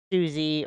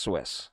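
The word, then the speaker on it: Suisse: that had failed last week we have credit Susie but it's pronounced Swiss yeah so anyway it's a Swiss Switzerland Bank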